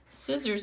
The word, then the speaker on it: scissors: so I have scissors scissors is a weird word I'm just gonna spell it for you it's got an S and a see there sit sirs and we only use